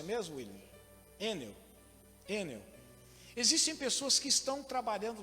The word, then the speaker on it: Enel: Qual que é a pronúncia mesmo, William? Enel.